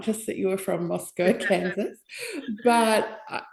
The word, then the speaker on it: Moscow: So the neighboring cities used to tease us and they'd say Moscow, Moscow. Like, no, it's Moscow, even though I raised pigs like half of my life as a kid.